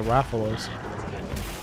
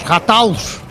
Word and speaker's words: Rathalos: What it was a Rathalos.